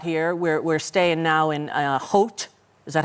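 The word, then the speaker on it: Howth: Hout. Yeah. Yeah, I was calling people in America going, I'm in my house in house. But that's not how you say it.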